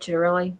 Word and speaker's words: Ciattarelli: But I do have a question because our the Republican candidate in New Jersey, Jack Ciattarelli, is that how you say it, Ciattarelli? It really I is.